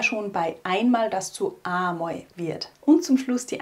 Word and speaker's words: amoi: Wie vorher schon bei einmal, das zu amoi wird.